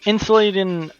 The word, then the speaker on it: Insulindian: Ah, so that's how it's pronounced. We're on the Insulindian Isola.